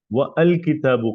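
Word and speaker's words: والكتاب: بولتے کہ القلم جدید و الکتاب قدیم، یہاں آ نہیں بولیں گے، یہ ڈائریکٹ واؤ کو لام سے ملایا جائے گا، والکتاب، ٹھیک ہے؟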